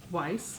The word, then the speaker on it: Weiss: Weiss. Weiss? Weiss. Yeah. It's like a Wise, but Weiss.